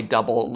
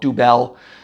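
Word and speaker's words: Dubbel: the double came out first d-u-bbel and it's pronounced that way double it looks some people want to call it dubel or uh triple it's pronounced triple it's not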